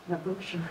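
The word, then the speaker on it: Mawooshen: So you pronounced it Mavushim? Mavushim. So it's spelled, and when I've seen it, M-A-W-O-O-S-H-E-N. So I've always just heard it in my head as Mavushim.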